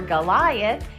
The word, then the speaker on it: Goliath: G says 2 sounds. It makes 2 sounds. It says G for Goliath, and it says J for giant.